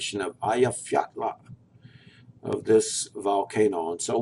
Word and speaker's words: Eyjafjallajökull: So you do a so it's Eyjafjallajökull.